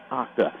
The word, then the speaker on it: Octa: they corrected me and let me know his name correct pronunciate of his name is OCTA and they're in a